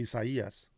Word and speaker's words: Isaías: Isaías. Oh, Isaías? Yeah, that's right. Hey, good job. Good pronunciation.